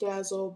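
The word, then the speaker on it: D.A.L.: So, it's pronounced Dazzle, but um D A L with a period between both letter between all the letters is how you'll locate the book.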